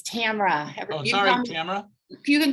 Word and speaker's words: Tamara: Actually, it's Tamara. Oh, sorry, Tamara. You can call me Tam. I get 3 different pronunciations.